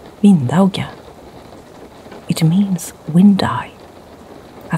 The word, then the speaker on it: vindauga: The original pronunciation in Norse Scandinavian was vindauga.